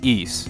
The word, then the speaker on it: Ys: to clear something up yes that is the proper way you pronounce east you know how I know that because the voiceover from the turbografx-16 CD version of east book 1 & 2 says so eise the ideal utopia